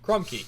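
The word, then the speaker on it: Crumkey: C Ru m k e y Crum key Crum key is how be spelled so that the official pronunciation is Crum key yeah I guess so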